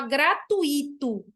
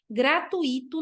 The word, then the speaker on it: gratuito: Tem gente que fala gratuito, é muito comum. Eu já ouvi até professores falando gratuito. Gratuito não existe, é gratuito. Não existe esse acento do gratuito que as pessoas colocam, porque é um ditongo, gratuito.